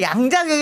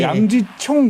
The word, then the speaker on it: 양자경: 예 그런 이름이죠 아 양자경이 그러니까 양지청 뭐 이러는데 양지청이라고 쓰면 사실은 저는 안 된다고 봐요 이분 학교기 때문에 화교 발음은 사실은 여러 가지로 발음될 수 있고 기왕이면 그러면 한국식 한자 발음이 더 자연스럽다고 봅니다 주용 발 영어식 발음은음 영 영어 이름 따로 있죠 미 뭐 미 미리가 따로 있고 저는 사실은 양자경이 뭐 양충 이런 양 충도 잘못된 발음이고 저희는 다 미쉘 여하는